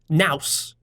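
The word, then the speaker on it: nous: ask the Greek word ancient Greek word called Mouse n Oh us it rhymes with Mouse it's a little difficult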